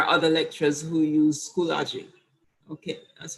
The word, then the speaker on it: Schoology: And there are other lecturers who use Schoology. Okay, that's how it's pronounced, Schoology, yes.